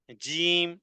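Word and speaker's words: ج: হতে পারে হাম্মা এরপরে জিম জিম এটি জিহ্বার মধ্যখান থেকে এরপরে উপরের দিকে তালুর সাথে লাগিয়ে দিতে হবে চার থেকে নিয়ে ছয় তার পরিমাণ পড়তে হবে পাথরের মত শক্ত হবে আওয়াজটা কঠিন হবে উচ্চারণে ধাক্কা হবে এভাবে করে জিম জিম জিম আল হাজ্জু আল হাজ্জু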